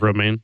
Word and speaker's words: romaine: what does that lettuce and always is bad romaine yeah Rome in Romania or should I pronounce it romaine yes perfect thank you I'm